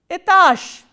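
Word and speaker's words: этаж: Zh is a voiced consonant, and what is its voiceless counterpart? Sh. So, itash, itash.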